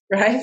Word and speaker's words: Raif: Am I pronouncing that correctly? Yeah, that's right. Raif and Connie.